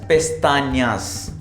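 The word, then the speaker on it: pestañas: Eye lashes को बोलेंगे लस पेस्तानियास, लस पेस्तानियास। एन्या है ये, एन के ऊपर ये आ रखा है, इसे बोलते हैं एन्या।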